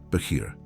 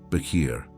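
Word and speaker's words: בחיר: The Hebrew word that defines exactly what is happening to you is beir. Pronounce it with me. Beir.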